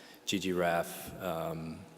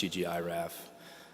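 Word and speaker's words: ggiraph: And then once we get there, then I want to start focusing on some other interesting projects like ggRaf, or I think it's pronounced ggiraf, and some other interesting ggplot2 extension packages.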